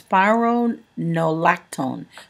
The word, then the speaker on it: spironolactone: you a correct pronunciation basically the way it's pronounced is SP spironolactone so spironolactone or spironolactone spironolactone okay so that is the correct to my knowledge pronunciation of it spironolactone now spiral spirolactone is